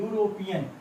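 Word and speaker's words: European: किस से शुरू है लेकिन इसका प्रोनाउंस जब करेंगे तो इस प्रकार से लिखेंगे यूरोपियन तो जो हिंदी में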